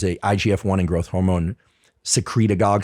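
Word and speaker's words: secretagogue: igf-1 and growth hormone secret agog sounds like synagogue but secreting stimulates growth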